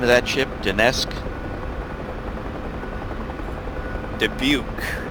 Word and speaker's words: Dubuque: you say the name of that ship danesque dubuque dubuque that's right thank you you're welcome sister ship dubuque warrior flight 10 miles to the east inbound for full stops worry flight this is dubuque take up a starboard delta one thousand feet